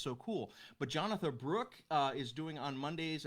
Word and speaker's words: Jonatha: just a great singer-songwriter her first name is spelled jonatha like Jonathan but without the end jonatha Brooke also please check